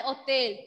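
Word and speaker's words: hôtel: What I meant was, in French, if your word is beginning with letter H will be silent and we will consider H as a vowel letter.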